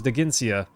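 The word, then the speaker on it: Dheginsea: Rashik, it did pronounce it for me, so I did know it was Daginsia.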